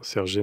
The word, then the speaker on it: sergé: de la serge, et j'ai mis un accent aigu, puisque vous le prononciez comme ça. Oui, très bien. Sergé, nom masculin, tissu à côte oblique.